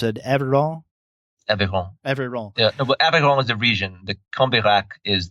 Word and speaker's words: Aveyron: Is it, how do you pronounce it? Aveyron? Aveyron.